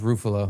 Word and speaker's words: Ruffalo: It's pronounced Ruffalo. Ruffalo, excuse me.